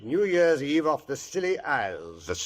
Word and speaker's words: Scilly: Year's Eve off the Silly Isles. The Silly Isles? That sounds appropriate, doctor. The name of these particular islands is spelled S C I L L Y.